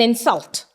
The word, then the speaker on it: insult: It is an insult. I'm stressing on in. Insult. He insulted me. Sul. It is a verb. I stressed on the syllable sul.